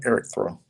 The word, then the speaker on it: Erictho: Am I pronouncing that right? Erictho.